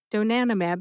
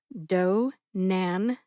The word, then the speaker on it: donanemab: Donanomab has four syllables and you can add the four letters at the end separate from donanimab. So it's donanomab a zbt. A little slower. That's do nanmab a zbt.